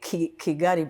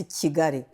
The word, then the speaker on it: Kigali: Yeah, it's hard for people to pronounce Kigali because they say Kigali, but it's Kigali.